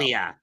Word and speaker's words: Ilya: Okay, how do you pronounce his first name? I could never figure it out. Ilya. Ilya? It's Russian.